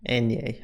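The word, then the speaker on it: eñe: The Enye is pronounced ni and sounds like canyon.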